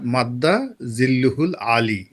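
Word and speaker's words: مد ظله العالي: বলেছিলেন মাদ্দা জিল্লুহুল আলী, উচ্চারণটাও যদি ওই সময় তার সঠিক হয়নি। আরবিতে এটা হলো ওই যে দেখবেন যে অমুক হুজুরের নাম ধরেন হজরত আল্লামা খলিল শাহ, তো হরজত আল্লামা খলিল শাহ মাদ্দা জিল্লুহুল আলী, এই হলো উচ্চারণ।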